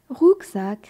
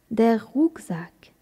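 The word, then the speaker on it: Rucksack: à dos se dit d' rousac comment l'écrit-on rousac s'écrit r C K s a C k rousac de quel genre est le mot rousac c'est un mot masculin c'est pourquoi on l'apprend avec l'article d' der rouzac comment dit-on ici en allemand ici se dit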